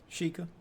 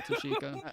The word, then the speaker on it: Tashika: Sheikah. No, that's not what he said. That is what he said, wasn't it? You're missing a syllable.